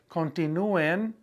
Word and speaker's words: continúen: We take continuo, change that O to an E, continue, accent on the U. Continúen would be an accent on the U.